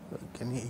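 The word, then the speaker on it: Hugoniot: This is pronounced as Hugenoy. Okay, Hugenoy equation.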